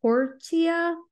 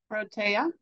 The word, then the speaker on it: Protea: Is it Portia? Or it's not Portia, right? Portia? Protea. Protea. Yes, thank you.